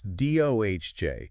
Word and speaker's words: DOGE: g is actually pronounced not like the word is no it's doj like the cryptocurrency exactly like Dogecoin feels like he's treating